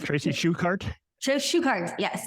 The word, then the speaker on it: Shuchart: Shuchart, yes. Shuchart. Okay. Age is silent.